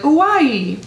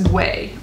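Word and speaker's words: OUAI: Like if you look at it, it's like all vowels, O-U-A-I, and I was like, Uai, but it's way.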